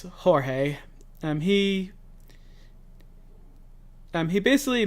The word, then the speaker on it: Jorge: It's not George, it's Jorge.